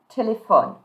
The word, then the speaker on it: téléphones: So in tu form, you're going to say tu, and don't pronounce the E, don't pronounce the S. Tu téléphones.